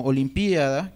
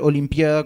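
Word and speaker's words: Olimpíada: Entonces tenemos palabras que se han creado con raíces griegas o latinas como Olimpiada, que lleva una tilde en la I, que está coexistiendo con una forma adaptada al patrón acentual español, Olimpiada, como una palabra llana y además diptongada, ¿no?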